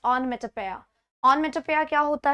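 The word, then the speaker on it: onomatopoeia: ओनोमेटोपेया ये नया है, इट्स नॉट ओनोमेटोपेया, इट्स ऑनमेटोपेया।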